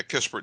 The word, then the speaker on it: Kispert: I'm not very familiar with Kispert. Is that how you pronounce his name? Yeah, Kispert. That's it.